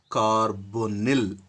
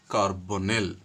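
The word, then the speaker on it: carbonyl: So in that the very first one is CO that is carbon monoxide and this is supposed to be pronounced as carbonil. We should pronounce the carbon monoxide liant as carbonil and secondly NH3.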